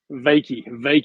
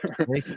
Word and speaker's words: Wykie: Am I pronouncing your name right? Wykie. Wykie, you got it. Wykie, yeah.